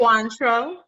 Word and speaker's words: Cointreau: She currently is a key account manager, I'm not even gonna lie, for Remy, how do you pronounce it? Cointreau.